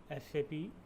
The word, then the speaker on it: SAP: It is pronounced as individual letter SAP. SAP is not pronounced as a word SAP.